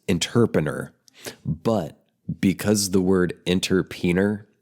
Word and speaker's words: interpener: So, of course, I looked it up on my own, and it is pronounced interpener.